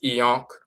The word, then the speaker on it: ankh: And that yonk comes from a variation of the term ankh which is also pronounced e-yonk.